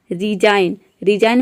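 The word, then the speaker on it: resign: एन आ रहा है, तो यहाँ पे जी साइलेंट रहता है। डिजाइन मीन्स होता है रचना। रिजाइन मीन्स होता है इस्तीफा देना।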